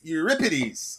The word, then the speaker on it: Euripides: Greek poet your pities euripides I think is the correct way to say it and more specifically his